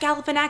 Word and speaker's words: Galifianakis: Galifianakis. Zach Galifianakis. Galifianakis. No, There we go. Zach Galifianakis. You sure? Zach Galifianakis. You can Google it, but I memorized his name. I was dedicated. Zach Okay, whatever. Galifianakis.